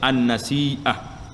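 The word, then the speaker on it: النسيئة: Cara baca dianya an-nasi'ah.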